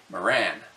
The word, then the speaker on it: Marans: If you look at French language rules, the S is silent and so pronounced Maran.